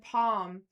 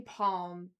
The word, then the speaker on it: palm: But it's funny cuz when he said palm like I say palm like it's like a weird silent L that you kind of half pronounce.